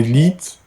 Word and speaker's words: lit: des lits. By the way, do you pronounce T? Let me check. Do you pronounce T? Lit.